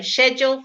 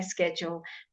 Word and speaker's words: schedule: some people will say schedule for that particular word and some people will say schedule you can pronounce it either or really doesn't matter nobody's going to criticize you or think you foreign I think I'm trying